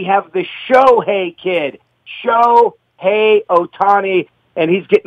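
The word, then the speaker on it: Shohei: and what a superstar show hey Otani and let me just let everyone know that there is your proper pronunciation so stop fouling it up Joe hey hey Joe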